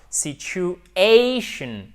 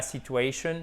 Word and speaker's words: situation: Ici, il se trouve que ça tombe sur le A. Situation, c'est pas situation, c'est situation, OK?